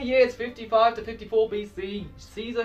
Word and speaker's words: Caesar: 55 to 54 BC Caesar himself or Kaiser I guess I should pronounce it Kate Kaiser yeah because the Romans